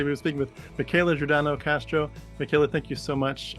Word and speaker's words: Michela Giordano Castro: wrap up by say we were speaking with Michaela jordano Castro Michaela thank you so much I got your name right I pronounced it right I did it thank you